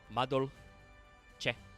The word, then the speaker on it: Madolche: Madolche, which is pronounced that way. Madolche.